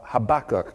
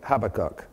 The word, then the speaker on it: Habakkuk: Habakkuk, as Americans say it. Brits say Habakkuk. Can you all say Habakkuk?